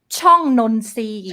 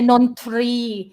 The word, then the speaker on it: ช่องนนทรี: Chong Nonsi. ช่องนนทรี Chong Nonsi. We don't say Nontri. นนทรี Toro we pronounce as so.